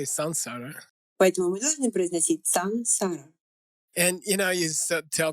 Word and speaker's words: saṃsāra: First of all, the correct pronunciation is "sansara," like "S-A-N" not "S-A-M". You hear a lot of people say "samsara."